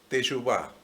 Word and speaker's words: teshuvá: esa palabra que es teshuvá. Teshuvá se escribe con T de teshuvá, E de Eyuvá, S, H, U, B corta, A. T, E, S, H, U, B corta, A, con acento en la A, y cuando se traduce